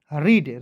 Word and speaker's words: read: READ, तो देखिएगा आर का लिखते हैं र, EA है तो इसको उच्चारण बड़ी के रूप में करेंगे और डी का होता है दोस्तों ड। READ, रीड, रीड मीन्स क्या होता है दोस्तों, पढ़ना होता है, ठीक है।